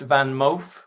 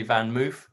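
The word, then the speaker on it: VanMoof: a dutch bike um pronounced van moff if you want to be correct most people just say van moof i guess one of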